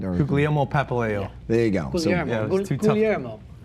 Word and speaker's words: Guglielmo: And his real name is Guglielmo, right? Or Guglielmo Papaleo.